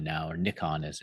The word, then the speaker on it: Nikon: day before the show so it is final Nikon now or Nikon as it's actually pronounced is now owner red but I'd say